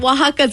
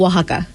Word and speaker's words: Oaxaca: Oaxaca's a place in Mexico. Oh, so is it? It's like the cart of Oaxaca.